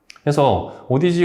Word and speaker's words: Audeze: 영화 " 스페이스 오디세이 " 에서 " 오디세이 " 라는 단어는 실제로 " 오디즈 " 와 발음 이 매우 비슷합니다 . " 오데즈 " 처럼 들리네 요 . 그래서 그들 은 단어 를 살짝 바꿔서 " 오데즈 (Audeze)" 라는 이름 을 만들었습니다 .